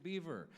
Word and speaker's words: Biver: It's B I Vera, but it's pronounced Beaver, right?